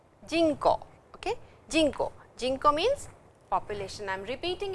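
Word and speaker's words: 人口: But the word is jinko, jinko, jinko, okay, jinko. Jinko means population.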